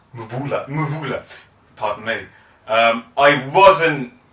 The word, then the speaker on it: Mvula: I believe it's didn't- pronounced Mvula.